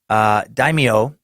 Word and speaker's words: daimyo: you said it is the proper pronunciation of daimyo is like so daimyo like yo yo what's up homie everything else